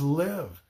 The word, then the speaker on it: live: And then the other is live.